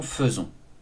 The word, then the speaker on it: faisons: Tu feras tout de même attention au verbe faire, notamment à nous faisons, qui s'écrit F-A-I, alors que nous prononçons faisons.